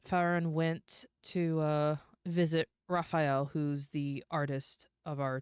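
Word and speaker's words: Rafayal: Raphael. And if you must know, it's spelled R A F A Y A L.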